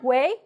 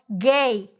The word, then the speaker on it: güey: The diéresis, the two dots on top of the U, you say, oh, I have to pronounce the U, right? So you say, güey, no, gay, güey, see, güey.